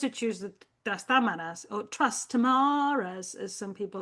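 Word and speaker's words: Trastámara: It's got an accent in Spanish. When we have an accent, it means the stress is in that syllable. Trastamara.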